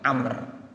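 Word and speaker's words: عمرو: nya kalo abis lo ada WOW nya itu bacanya Amer Amer Bin Ash Kumar bin khoththob dua-duanya sahabat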